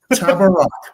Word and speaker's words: Tabarrok: Sound it out. Tab rock. Like it is phonetic.